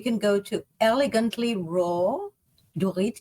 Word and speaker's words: Dorit: go to elegantly raw do it d-o-r-e-e-t i'm spelling it phonetically slash california food festival